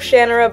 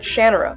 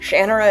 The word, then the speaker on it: Shannara: When I started watching this show, they pronounced it Shannara, and that's what I thought it was pronounced like, until I listened to the audiobook, and I heard Terry Brooks pronounce it Shannara. Personally, I like Shannara better, but Shannara it is.